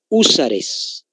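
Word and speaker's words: Húsares: el tercero se llama usares con h por si acaso acento en la u usares más algunos voluntarios que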